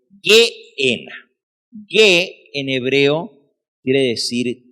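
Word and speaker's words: Gehena: Así que cuando leemos G-E-H-E-N-A, Geena, no la traten de pronunciar Gejena o Geena, es Geena.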